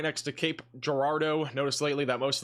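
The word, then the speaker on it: Cape Girardeau: Cape Gardo or Cape Gerardo. Sorry, I keep saying it wrong. Cape Gerardo at this point is mostly going to be I think damaging winds.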